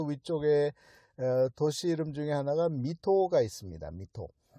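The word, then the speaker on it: 水戸: 이 도쿄 보다 좀 더 위쪽에 도시 이름 중에 하나가 미토가 있습니다. 미토. 한자로 어떻게 쓰냐면 물 숫자에다가 토는 이제 가가 호호할 때 그렇게 쓰고 이걸 읽기는 미토라고 해요. 그러니까 물 숫자를 미라고 읽은 거죠.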